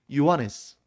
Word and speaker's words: 요한네스: 요한이 당시에 발음으로는 요한 정확한 헬라오 발음으로는 요한네스 그래서 우리 남아프리카 공화국에 보면 요한네스 버그가 있잖아요.